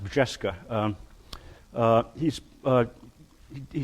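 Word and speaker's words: Brzeska: Um it's pronounced Vesca.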